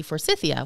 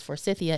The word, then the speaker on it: Forsythia: how names are pronounced another great example would be Forsythia what we say is Forsythia in the U.S well it was actually named after a Dr Forsyth and if you are